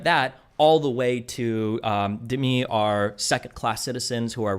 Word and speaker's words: Dhimmi: When you talk about, how do you pronounce Dhimmi? D-H-I-M-M-I, how do you pronounce it?